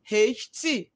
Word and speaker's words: wright: WR, wrong, right. WRIGHT, not RIGHT. Well, letters W is silent.